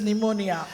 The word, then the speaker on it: pneumonia: அப்பா சொல்றாங்க இது this is pneumonia. P silent.